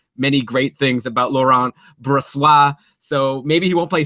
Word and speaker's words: Brossoit: It's instead Laurent Brossoit, who I think... Oh, no. No. You know that's not how to say it. Brossoit?